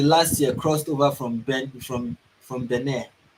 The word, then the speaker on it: Benin: The extremists believed to be linked to Al Qaeda have in the last year crossed over from Benin. That's how it is pronounced, not Benin.